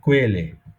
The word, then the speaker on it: Quelle: এই কুটা হচ্ছে একেবারে আমাদের বাংলায় কয়ের মতন। এই কু দিয়ে শব্দ খুবই কম, এটা হচ্ছে কোয়েলে, তো এরপরে সাধারণত উ থাকে, এটা একদম কয়ের মতন, কোয়েলে।